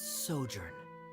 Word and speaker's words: sojourn: story together well is everything clear how pronounced this word let me see Ah that's sojourn it means to stay for a while this